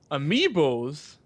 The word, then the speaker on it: amiibos: Thanks to games like, pronounce that. Hyrule Warriors, Mario Zelda. Kart 8, the critically acclaimed Bayonetta 2. Amiiboss seems to take advantage of the Disney...